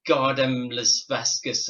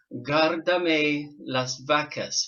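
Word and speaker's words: Guárdame las vacas: So I was looking at it as Gardem Las Vascas, or I couldn't say it, but she taught me how to say it properly, which was Guardame las vacas, which translated it means looking after your cows.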